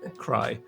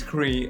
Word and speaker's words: Crea: it before me, because I was about to pronounce them cry. Now I know it's Cree.